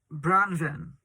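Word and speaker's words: Branwen: i named it bran branven is how you pronounce it and that is wealth a welsh name for fair raven so it's actually a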